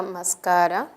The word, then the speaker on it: mascara: Acá tenemos la palabra mascara, mascara, que tiene el acento en la penúltima sílaba, se ha depositado el